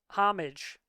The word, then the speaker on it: homage: So instead of trying to do all of these, paying homage, is it actually homage? I never know if it's silent H like herb or herb, um, paying Homage.